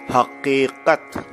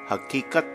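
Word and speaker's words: حقیقت: We say haqiqat. Haqiqat. Both Q's. Haqiqat. Not haqiqat. Not K. Hakikat.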